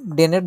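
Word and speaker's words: denn: ভালো হচ্ছে আমরা এটা ডেন দিয়ে ব্যবহার করে বলতে পারি এস্কেপ টুড নূর পজিশন ডেনের জন্য কিন্তু ডেনের জায়গায় যাতে ডান না হয় ডান মানে তারপর ডেনই বলতে হবে ডেন উচ্চারণটা ঠিক করে নিব আমরা তারপরে যে পার্টনার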